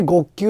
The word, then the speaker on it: ５−９: 名の通り 5 の配分 9 で極級と読むんですけどもはい 5